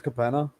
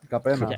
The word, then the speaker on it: Capenna: I think it's Capenna. I think it's Capenna. Gotta say it like an Italian. Capenna.